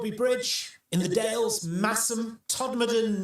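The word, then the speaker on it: Todmorden: Some of the other popular ones, so Bridge in the Dales, Massum, Todd Moden, not Todd Morton, and Nesbra. Yeah, no, I didn't think people mispronounced Nesbra either, but apparently one commenter said that someone had asked where Canazberg was.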